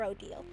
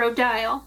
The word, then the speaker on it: Odile: No, no, I'm asking Madame Odio. Is it cutlery? Od is the traditional French pronunciation.